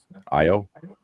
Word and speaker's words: Io: It's also This is the first appearance of an Amazonian um uh blacksmith IO. Mhm. I think that's how you say her name because it's just I and O.